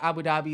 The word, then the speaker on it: Abu Dhabi: abu dhabi they said is that how you pronounce it abu dhabi yeah um they were saying abu dhabi is like the conservative the most conservative area